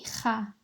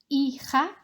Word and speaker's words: hija: Mi hija is my daughter. If we just practice saying that one together, remembering that the H is silent. Hija.